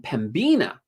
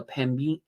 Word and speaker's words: Pembina: years ago on Pembina, I was pronouncing the B, so I was saying Pembina. Well, let me just say, I had somebody in the comments say, it's the B is silent.